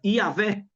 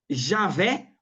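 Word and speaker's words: יהוה: Tanto você pode falar Iavé, como Javé, Iaué, e as três formas estão corretas.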